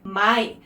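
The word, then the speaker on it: 마이: And pulling 2 syllables together, the ma from master and the yi from yi, his last name, I guess, Ma-i. So Master Yi becomes Mai in Korean.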